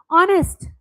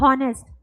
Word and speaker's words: honest: Honest. Again, not honest. H is silent.